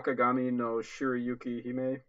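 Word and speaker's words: Akagami no Shirayuki-hime: white with the red hair or let me pronounce this right ah Kagame no Shirayuki he may it is like a historical show I believe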